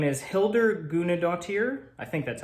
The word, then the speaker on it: Hildur Guðnadóttir: her name here she's Icelandic her name is Hilda guna dear I think that's how you pronounce it I watched a video earlier her